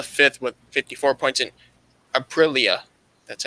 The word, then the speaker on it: Aprilia: And Aprilia, that's how you say it, sixth, they have 23 points.